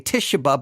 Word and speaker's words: Tituba: and the slave Tituba some say tishaba but I think it's Tituba crying out that they